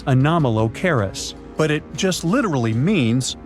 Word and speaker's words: Anomalocaris: The name is a bit tricky to pronounce, so I'm not going to. Okay. Okay. It's Anomalocaris, but it just literally means unusual shrimp.